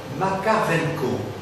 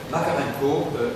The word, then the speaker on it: Makarenko: maître d'œuvre, très connu dans ces milieux-là, c'est Makarenko. Makarenko, ça s'écrit M-A-K-A-R-E-N-K-O.